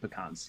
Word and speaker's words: pecans: so good yeah yes i also like that you said pecans because that is the correct way to say it and not oh yeah